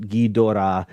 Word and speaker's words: Ghidorah: Liam Foley said, so Ghidorah is pronounced Ghidra. Technically speaking, the O in the middle of that Ghidorah is very shortened.